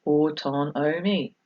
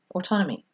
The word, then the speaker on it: autonomy: autonomy autonomy of children if you don't know how to say it it's autumn oh me autonomy it means self-governance being